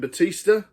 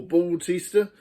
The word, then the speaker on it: Bautista: The Escape Plan with Sylvester Stallone and Batista, or Bautista, however you want to pronounce it.